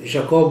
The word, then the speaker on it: Jacob: jacob da ovest in divergenze accordo scritti su carl schmitt edito da quodlibet il libro è del 1996 il nome di jacob a dall'essere noi pronunciamo alla francese forse anche taubes c'era stato